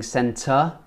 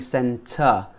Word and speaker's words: centre: Next week I will go to the shopping centre. Don't pronounce the R. Shopping centre. Water. Better. We don't pronounce the R's at the end of the word.